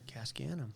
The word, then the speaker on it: Casg Annamh: this this is how this is how you're supposed to pronounce it cascades gascano what do you do with a bunch of ants and all you have is some gas in a can you can scan them cascanum cascanum cascanum that's a great story